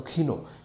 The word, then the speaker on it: ক্ষীণ: তা টিমটিম করে জ্বলছে ক্ষীণ কেন আমি উচ্চারণ করলাম প্রকৃত উচ্চারণ তো ক্ষীণ কিন্তু আমরা কবিতায় ছন্দ মিলানোর সাপেক্ষে এভাবে উচ্চারণ করতে পারি আগেরটায় ছিল বিমলিন আগের লাইনে তাই এখানে উচ্চারণ আমরা করলাম ক্ষীণ শুধু আঙ্গুলি হেলনে শাসন